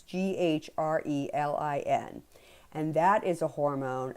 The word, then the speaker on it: ghrelin: There is also a overproduction of a hormone called ghrelin. I'm assuming that's how it's pronounced. It's Grelin.